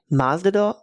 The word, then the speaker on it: Masvidal: Masvidal.